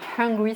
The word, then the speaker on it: hungry: Donc I am hungry, c'est avec un H et c'est U-N.